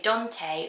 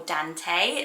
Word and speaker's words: Dante: Now the next one you can pronounce two different ways. You can say Dante or Dante.